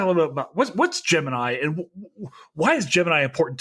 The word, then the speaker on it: Gemini: in the film actually calls it Gemini, not Gemini. Right. I was like, what? Earlier tonight. Yeah, Gemini. That's right. Gemini. Yeah, because that's this debate among the space geek set is how to pronounce it. But I'll say from firsthand experience, everybody that I've interviewed or spoken with who was actually involved with the program, to a man, they all say Gemini.